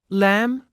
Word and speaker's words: lamb: in phone photo autograph be is silent at the end of a few words listen and repeat climb comb thumb lamb as an exercise you